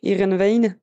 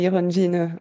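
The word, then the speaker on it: Heerenveen: mol handais c'est ça mais les Hollandais prononce iren ve mais nous on disait iron vin avant de l'entendre vraiment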